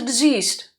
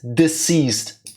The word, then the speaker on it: deceased: really something was the diseased why do you always say diseased it's deceased there's a huge difference in that one sound in the middle the way you pronounce